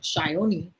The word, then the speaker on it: Sayani: i'm gonna ask her why she calls herself shyoni and it's definitely a bengali connection i'm sure